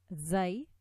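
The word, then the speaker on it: ز: And these letters, Sad, Sin, Zay, are articulated by putting the end of the tip of the tongue on the plates of our two lower incisors.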